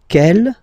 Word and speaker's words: quelle: And then the feminine form is written like that, Q-U-E-L-L-E, but it's pronounced like the masculine form. Quel at the masculine, quel at the feminine.